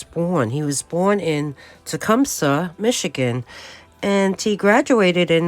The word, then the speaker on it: Tecumseh: I talked about all the hospital affiliations he had, and I want to correct the pronunciation of where he was born. He was born in Tecumseh, Michigan, and he graduated in 1882 from Long Island College Hospital.